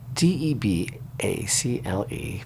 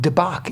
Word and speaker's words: debacle: can help me with I say deal the American way of pronouncing and according to everything we've seen online just recently debacle however the the um the British I think pronounce it debach even or may they